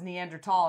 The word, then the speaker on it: Neanderthal: over and over and I finally went maybe she's right and I looked it up National Geographic says Neanderthal and I was like